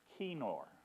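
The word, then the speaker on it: kinnor: k i n n o R and it's pronounced kenor it's a 10 string instrument and it's um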